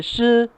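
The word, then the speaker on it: 死: Em chinês, em mandarim, 4 é shi e morte é shi, então realmente é muito parecido.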